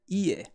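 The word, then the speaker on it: 家: a nice slide now the kun reading for house home is ei well here is actually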